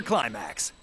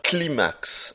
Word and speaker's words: Climax: Afterburner Climax. Ah ouais, quand même. Ah, il le prononce mieux que moi, faut l'avouer. Moi, j'aurais dit climax. Afterburner Climax. Mais non. Vous l'avez entendu? Il faut dire Afterburner Climax.